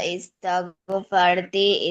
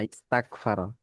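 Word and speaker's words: استغفر: হ্যাঁ ইস্তাগ, এটা কিন্তু গয়ন, ঠিক আছে? ইস্তাগ ফারতা, গয়নের উচ্চারণ। আবার কাফ বলো না, ইস্তাক ফারা, এরকম বলো না, ঠিক আছে?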